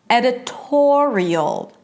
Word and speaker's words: editorial: Editorial. And notice that in all of these words, the stress is the one syllable. The stress is on the one syllable before the suffix, right?